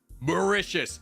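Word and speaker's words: Mauritius: you it's you I've done morania oh okay macious and that is the correct pronunciation I did Google it many times macius is an expert level start we are a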